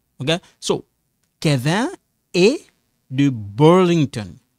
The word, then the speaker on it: Burlington: So, Kevin est de Burlington. Burlington. So, you see this A, this one silent. We don't pronounce it. We only pronounce this A.